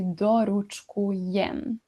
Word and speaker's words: doručkujem: It would be logical to think that present tense is now doručkujem, but it's not. It's actually doručkujem. So, what happened? The whole syllable is lost. O v a is totally lost.